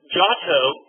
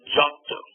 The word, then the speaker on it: Giotto: Giotto is very similar in a lot of ways. Giotto, Italian pronunciations, an I after a consonant makes it soft, right?